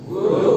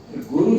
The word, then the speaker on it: गुरु: गुरु शब्द जो है वो गुरु नहीं है, गुरु गुरु शब्द है।